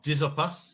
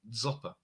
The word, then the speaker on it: Dzopa: The name has different spellings like Dzopper. Dzopper. I think that's how you say it, DZOPA, Zopa.